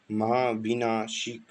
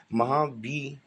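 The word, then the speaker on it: Mahabhinishkramana: of truth, also called the Maha Mahabhinashik. Sorry, I think pronunciation is maybe wrong here. Mahabhinishkamana, or the great renunciation, and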